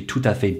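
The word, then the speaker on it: tout à fait: well this is because the next letter after the t is a vowel and that creates the liaison between the t and the a and therefore to make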